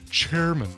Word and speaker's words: Charmin: in mine you so Charmin toilet paper really it's pronounced chairman Oh chairman I see